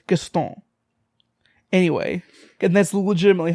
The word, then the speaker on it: Gaston: his name is not guest on that sounds like a white person trying to say his name he's French his name is Gaston anyway getting this legitimately